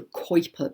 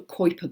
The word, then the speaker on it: Kuiper: these planets orbit in what is called the Kuiper belt k-u IPE are the Kuiper belt which is way out in space beyond